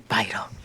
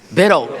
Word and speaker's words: Biddle: For the record, it's Biddle. Thank you, Jesus. Okay. That was killing me. I heard 3 different versions all day. Well, good morning, Secretary Vital. Biddle.